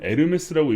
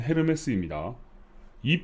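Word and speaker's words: Hermes: 있는 몇몇 코인들이 있습니다 많이들 에르메스라고 읽으시던데 공식 명칭은 헤르메스입니다이 프로젝트는 폴리곤이 2.5억 달러의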